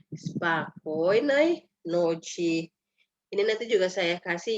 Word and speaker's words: спокойной ночи: Ini penekanannya di O yang di tengah ya. Jadi bacanya spokojnej noci.